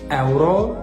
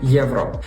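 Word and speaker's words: euro: на літеру є тобто замість еваа говорите Єва замість евро говорите євро тут потрібно запам'ятати що якщо в чеській мові написана літера Е то вона і вимовляється як звук е друга помилка ставити наголос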